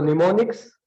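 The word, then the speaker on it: mnemonics: तो निमोनिक्स में एम जो है वो साइलेंट है, और brain science, memory science, निमोनिक science है ना, this is the name of this course, right.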